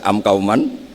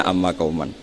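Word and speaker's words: أَمَّ قَوْمًا: tahu mungkin kita pas belajar baca am Kauman kemudian dibenahi guru ternyata bacanya Amma Kauman begitu seterusnya sehingga ada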